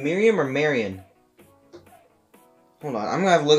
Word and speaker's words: Marion: fans out there but her name is marion marion ravenwood not miriam there's a dif there's a big difference in how you pronounce those so i don't creeper has